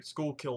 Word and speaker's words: Schuylkill: purchase item from what I understand guess the shukla Arsenal or sorry Schuylkill Arsenal I'm still pronounce it wrong from time to time please